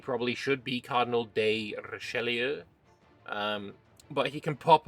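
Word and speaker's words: Richelieu: We have Cardinal Relier. Um the there was a comment in the uh comments section uh saying that this probably should be Cardinal De Rashelier.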